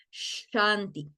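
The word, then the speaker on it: शान्ति: Y recuerden Enton que esa s con tilde se pronuncia como como si yo estuviera quiso hacer callar a alguien Okay pueden probarlo no tienen que abrir sus micrófonos pero pueden probarlo ustedes en este momento y escuchar el sonido porque quiero que después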